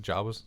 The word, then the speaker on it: Jawas: Jawas?